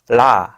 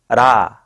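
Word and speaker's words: ㄹ: It sounds in two ways. If it's the onset of a syllable, it's la, ra, la. It's not the R sound. Tap the roof of your mouth with the tip of your tongue shortly.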